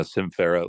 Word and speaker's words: Sym Fera: Yeah, Sym Fera, like symphony and the word feral.